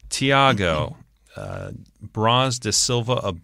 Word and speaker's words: Thiago: thygo I believe it's Thiago Thiago I always wanted to leave the H is silent in that Thiago uh bras de Silva